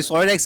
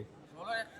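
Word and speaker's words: Solarex: सोलर एक्स के नाम से प्रोनाउंस करेंगे। क्या करेंगे? सोलर एक्स के नाम से।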